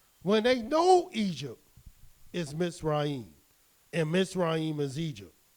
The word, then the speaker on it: Mitzrayim: little do people know the Hebrew pronunciation the correct pronunciation of Egypt is not Egypt at all it's MIT's right so